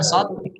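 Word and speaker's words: ص: Nah, kalau so, lihat. Tebal. So. Kemudian sin. Yang sin, qad, zai dan sin sama-sama memiliki sifat as-sufir. Sin dan sod itu sama-sama hamas. Sin dan sod sama-sama hamas. Sama-sama rokhawah. Namun beda. Kalau sin tipis, kalau sod tebal.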